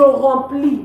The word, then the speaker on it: remplis: Je remplis. We don't pronounce the S.